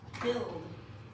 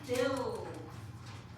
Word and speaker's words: build: There's a silent letter. You got You got all the letters correct except for one. It's not Bill. B U I. This is another heart word. Ui norally makes the ooh sound, but in this one